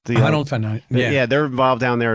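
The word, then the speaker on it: Honnold: I think Alex Honold, how do you pronounce his last name? Honold? Honold.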